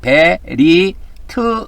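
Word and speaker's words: בְּרִית: 베리트 이렇게 발음합니다.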